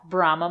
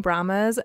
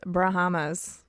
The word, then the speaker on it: Brahma: I've been calling Brahmas Brahamas because that's how it's spelled. I think it's Brahma.